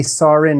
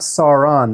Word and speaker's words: Sarin: 11-year-old FM from India that would be sarin not saaron that's nakamura's pet nickname